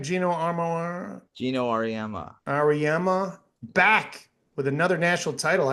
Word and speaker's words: Auriemma: Auriemma back with another national title after he fucking ran that whole league forever.